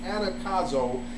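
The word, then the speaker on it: ἀναγκάζω: So I actually looked up the word constrain in the Greek, and the word is pronounced anakazo, and it means to necessitate or compel.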